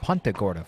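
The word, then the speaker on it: Punta Gorda: too we learned last year that it is pronounced pagora Florida from the mayor of pagora she uh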